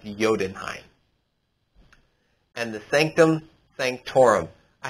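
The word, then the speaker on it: Jotunheim: chaos so we got odin's throne the bifrost jodenheim it's spelled jodenheim but it's pronounced yodenheim and the sanctum sanctorum i have been falling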